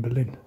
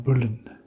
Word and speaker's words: Boleyn: How do you say it? Bullen? Bullen? When I listened to the audio guide, it was saying Bullen, but I always said Anne Boleyn, but it's obviously Anne Bullen.